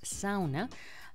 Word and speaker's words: sauna: matt from now on i'm gonna pronounce it as sauna uh which is finnish pronunciation so estimated number of